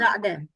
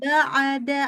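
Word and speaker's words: بَعْدَ: Ba'da juga tawalut. Nggak boleh ba'ada. Ada kayak A-nya. Nggak boleh. Ba'da.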